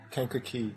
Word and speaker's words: Kankakee: Kankakee. Kankakee. Kankakee. Emphasis on the first syllable.